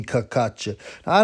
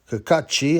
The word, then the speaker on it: Cacace: now I was like does kakat kakachi I assume that's how you pronounced he's half Irish half